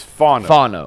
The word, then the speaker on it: Fano: collective, and once again, you guys Where's the emphasis capital on the fawn. on the fawn? Okay. On the fawn. So it's not Fano, it's Fano. Fano.